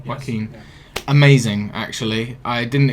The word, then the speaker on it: Joaquin: Joaquin Phoenix, I think, is that how you pronounce his first name? Yes. Joaquin.